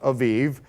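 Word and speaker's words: אביב: In Hebrew, it would be pronounced Aviv. And so you'll see that sometimes I write it AIB, sometimes I write it Aviv.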